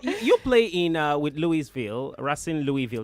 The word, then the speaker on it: Racing Louisville: It is what it is, But you play in with Louisville, Racing Louisville. That's how you say it. Racing, Spanish. Say Racing.